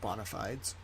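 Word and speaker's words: bona fides: bonafides but I like bonafides it's Latin we pronounce it bonafides the court.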